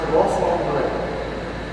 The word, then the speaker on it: rassemble: And it's spelled like reassemble in English, but it's French, so it's pronounced rassemble.